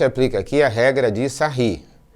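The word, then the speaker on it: Sarrus: A gente aplica aqui a regra de Sarri. Se escreve sarro, você vai fazer o biquinho agora e fazer sarri, porque são os franceses que estudaram isso daqui.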